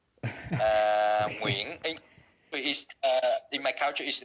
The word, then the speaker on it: Nguyễn: My full name is Nguyễn. Nguyễn is in my culture is a little bit different.